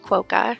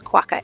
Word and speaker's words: quokka: for our quaka so I've been saying this name wrong apparently it is not quoka it looks looks like quoka if I just try to pronounce it but it is quaka it comes from the Aboriginal word guaga uh